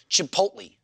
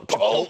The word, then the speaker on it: Chipotle: No, you don't pronounce the L in that word.